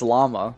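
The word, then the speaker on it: Lauma: And if you can't control it llama that mean I mean that is how you would say her name though. It's it's llama.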